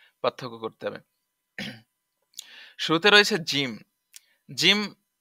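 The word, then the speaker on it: جيم: শুরুতে রয়েছে জিম, জিম জা, জিম জাহিম, জাহিম আছে শব্দ জাহিম। তো জিমের উচ্চারণ, জিম জিহ্বার মাঝখান হতে শক্তভাবে আদায় হবে, জিহ্বার মাঝখান হতে শক্তভাবে আদায় হবে।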